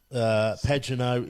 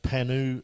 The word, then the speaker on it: Pagenaud: Pagenaud is pronounced Panu, guys. He's French.